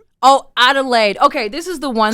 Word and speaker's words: Adelaide: Adelade. Oh, Adelaide.